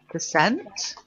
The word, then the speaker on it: percent: a little define : percent hey and then you'll get there you go and you'll see the stress isn't on / it's on cents and what you